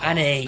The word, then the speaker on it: Annie: of a character and got the name wrong. I'm surprised no one has mentioned Anna. It's Annie.